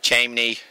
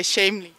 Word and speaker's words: Chamney: And it's pronounced Chamney, but I've heard it Chamney, Chamney, Chamney.